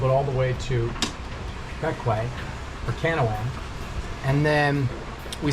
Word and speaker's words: Bequia: So we're here in Bequia, spelled Bequia, pronounced Bequia.